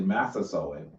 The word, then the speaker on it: Massasoit: Massasoit.